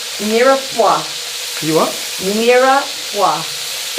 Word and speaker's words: mirepoix: The correct mirepoix. You what? Mirepoix. It's like, I think it's spelled M-I-R-E-P-O-I-X.